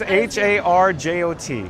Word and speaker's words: Harjot: I assume you were not able to say my name right. It's Harjot.